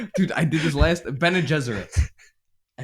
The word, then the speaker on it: Bene Gesserit: Bene Gesserit.